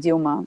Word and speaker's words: Dilma: There's the last president impeached in 2016, Dilma Rousseff, or is her name pronounced Dilma or Yeah, Dilma? Okay, so Dilma, yeah, Dilma.